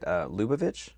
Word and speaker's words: Lubavitch: But growing up in Washington, you grew up in, I want to make sure I pronounce this right, Lubavitch?